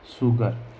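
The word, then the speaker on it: sugar: जैसे मैंने लिखा एस यू जी ए आर, शुगर। जैसे मैंने लिखा एस यू आर ई, श्योर। ठीक है। तो इस प्रकार से हम एस यू का उच्चारण भी से सलजम वाला से करते हैं।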